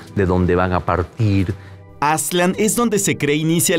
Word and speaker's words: Aztlán: lo mismo pasa con aslan que sería la pronunciación más más cercana con aslan para los mexicas para